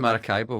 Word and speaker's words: Maracaibo: start by asking you to tell me about Maracaibo is that how I pronounce that that is how you pronounce it yeah so tell me about Maracaibo where is it uh well um in Venezuela